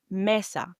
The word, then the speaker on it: mesa: The E in Spanish is pronounced as a short P or E. So, the sound properly is E. Similar to the English word of bed. Example, messa. Mesa, which means table or elephante which means elephant.